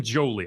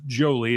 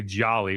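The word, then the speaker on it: Joly: I believe his name is pronounced Jolie. It's J O L Y. I know a lot of people say Jolly, which is more fun and festive, but I believe it is Jolie.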